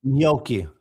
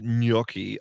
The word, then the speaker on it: gnocchi: would never go the I would never go gnocchi. I I just say it like no, I just knocky.